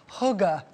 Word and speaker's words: hygge: people of Denmark, I'm told the word is pronounced more like hygge.